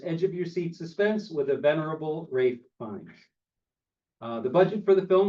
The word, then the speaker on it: Ralph Fiennes: that's how you say his name, even though it's spelled Ralph Fiennes, whatever, it's Ralph Fiennes.